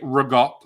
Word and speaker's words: ricotta: The better question is, how do you pronounce ricotta? Because if you're true. Ricotta. Because you could say rigot, like if you're, from New York.